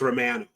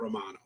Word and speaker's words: Romano: He's a Canadian Italian, so it's Romano. It's not Romano.